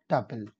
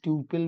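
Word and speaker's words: tuple: পার এবার আসি আমরা টাপেল টাপেল এটা টিউপেল বল না কেউ টাপেল এর উচ্চারণ ক্লাসে একটা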